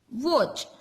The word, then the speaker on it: watch: Okay, now last is watch. Where is watch? Yes, here. So W-A-T-C-H. Watch. Which is the silent letter here? Yes, T is silent letter.